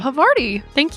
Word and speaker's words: Havarti: I got a Havarti and, is that how you say it? Havarti? Havarti. Thank you.